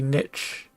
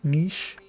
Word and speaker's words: niche: The first one looks like it would be niche. And the second one, I assume the thing over the E makes it a long E, niche.